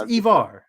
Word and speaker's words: Ivar: I'm in a sweatshirt it's Ivar Ivar thank you it's pronounced Evar yeah just like what